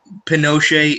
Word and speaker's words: Pinochet: ii know how you spell that's how you pronounce his name yeah Pinochet it's a soft tea but it's a it's